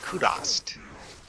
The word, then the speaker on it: Kurast: in Upper KOST actually you know what rly pronounces it kurast not kurast kurast interesting anyway though minor technicality